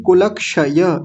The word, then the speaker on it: कुलक्षय: पातकम कुलक्षय कृतम दोषम कुलक्षय नहीं कुलक्षय य स्पष्ट आना चाहिए कुलक्षय कृतम दोषम ओके